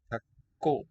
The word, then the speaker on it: 닭고기: 닭고. 닭고기입니다. L written here, but it's silent in this syllable there.